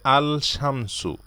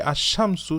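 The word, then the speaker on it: الشمس: আশামসুর পিছনের আলিফ লাম এই লামটাকে আমরা উচ্চারণ করি না সাইলেন্ট রাখি আমরা বলি না যে আল শামসু আমরা বলি আশামসু সূর্য অনুরূপভাবে এই হরুফের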